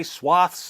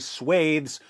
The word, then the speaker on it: swathes: they seize vast swathes yes i know some of you say swaths and some of you say swathes there's no agreed-upon pronunciation anymore so get over yourselves